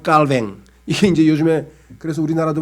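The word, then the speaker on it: Calvin: 이게 이제 요즘에 그래서 우리나라도 뭐 칼뱅이라고 쓰는 이유는 뭐냐면 이 사람이 원래 프랑스 사람이니까 프랑스식으로 발음해 주자 그래가지고 칼빈이란 말을 잘 안 쓰고 그냥 칼뱅이라고 하는 말을 쓴 이유가 그거예요.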